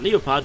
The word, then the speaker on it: Leopard: corner I see a Leo pod eyes and yes I always pronounce it the German way because why not because the English pronunciation of Leo part would be leopard and that sounds more